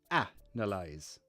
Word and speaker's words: analyze: bloody hard to pronounce analyze and Analysis okay that's that's easy um agil so analyze you put the stress on ah right so look ah no lies ah no lies analysis you put the